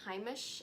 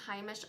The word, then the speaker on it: Heimish: This is the Heimish, I believe it's pronounced Heimish All Clean Balm.